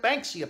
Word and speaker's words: Banksia: a BA in K ESI a Banksy at Banksia pods that's how you pronounce it some gun nut blanks he made